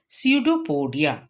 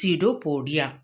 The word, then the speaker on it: pseudopodia: which is known as pseudopodia c e u d o p o d i a here p is silent it is pseudopodia which help to procure